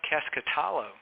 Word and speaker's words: Keskitalo: our clients and a strong producer named Joanna casket alo from South Carolina did I pronounce the last name right Joanna you did